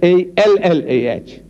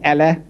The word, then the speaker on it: Allah: I said, no man, how you spell, but you must pronounce the way we are asking you to pronounce our language. It is not Allah, it's Allah. Try. Allah, not Allah.